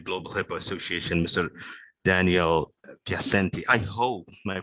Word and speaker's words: Piacenti: HIPAA Association Mr Daniel piercente I hope my pronunciation is correct my surname is piacenti by the way okay yeah yeah yeah it's Italiana that's it exactly okay